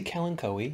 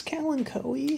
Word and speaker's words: Kalanchoe: I say kalanchoe. Kalanchoe. Yeah, this is like he's politely asking me, like, you know, I'm the authority or something. But yeah, I think it's kalanchoe.